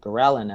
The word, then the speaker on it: ghrelin: I was reading your book with, is it ghrelin? Is that how you pronounce it?